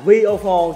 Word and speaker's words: Viofo: A119 Mini 2, nhưng đọc là VO4 chứ không phải là V-Phone nha.